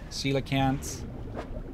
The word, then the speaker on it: coelacanth: Coelacanth. There we go. First you said sea cats. But yeah, that's how you pronounce it.